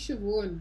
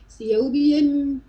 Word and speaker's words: Siobhan: My full name is Siobhan. It's Irish. It's spelled Siobhan.